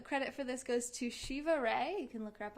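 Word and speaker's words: Shiva Rea: So credit for this goes to Shiva Ray. You can look her up online. It's R-E-A. And I think I'm saying it right, Shiva Ray.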